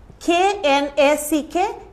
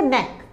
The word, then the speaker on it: knack: Here K will not be pronounced, right? K-N-A-C-K. Here we will start, K will be silent. So N-A-C-K, knack.